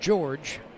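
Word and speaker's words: Jorge: it low ball one his first name is spelled j r g e pronounced George and he hits a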